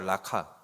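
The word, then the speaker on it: ῥακά: 여러분 이 라가라는 의미는 쉽게 말하면 헬라 단어로 발음하면 라카예요. 라카.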